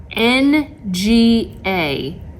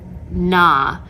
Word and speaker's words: Nga: client shaming my favorite thing this is not n-g-a nah clearly she's of asian descent it's pronounced not for whatever reason throughout the entire